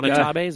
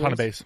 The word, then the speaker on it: Watanabe: And let's slam that down and put some Watanabes on there, Yeah, or Wanatabes, or how do you say those words? Watanabes.